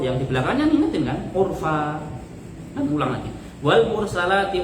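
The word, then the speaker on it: عرفا: Ayat pertama kan wal mursalati urfa kan itu kan. Dia itu bacanya wal mursalati urqa. Fa-nya itu dikira 2 titik.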